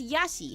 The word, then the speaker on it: Yashi: His name is Yashi. Hang on. It's spelled like this. Y A S H I. It's fun to stay at the Y hi.